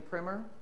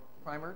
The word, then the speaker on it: Primer: And then Float Learning has created the Mobile Learning Primer, or Primer, depending on how you want to pronounce that.